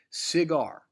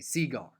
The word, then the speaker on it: cigar: e its trochaic eagle cigar right the emphasis is on gar ZAR unless you're my dad trying to be funny and you say Seaguar right impasse the emphasis